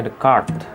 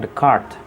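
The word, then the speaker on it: Descartes: o di deskripsi nah ini kalau bahasa pengucapannya di bahasa perancis rene dekat ya reni dekat jadi hai ini yang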